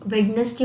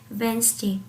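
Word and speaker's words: Wednesday: जैसे कि पहले हम शुरू से हम वेडनेसडे बोलते आ रहे थे, बुधवार को इंग्लिश में वेडनेसडे बोलते थे, लेकिन अब हम उस सभी उसको प्रोनाउंस करते हैं वेंसडे। अब हम उसको वेंसडे बोलते हैं।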